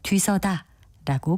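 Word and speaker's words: 뒤서다: 뒷다 생각하는 분들이 계시는데요 이것은 뒤서 다로 쓰고 글자 그대로 뒤 서다라고 발음합니다 그리고 같은 방향으로 나가면서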